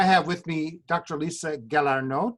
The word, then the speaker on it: Galarneau: Lisa Galarneau. Did I pronounce that correctly? That's great. That's a perfect French pronunciation.